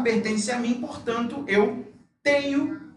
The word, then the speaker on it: tenho: La pronunciación, chicos, de la NH es muy parecida, igualita a la ñ del español. ¿Ok? Entonces la pronunciación de NH es igualita a la pronunciación de la ñ.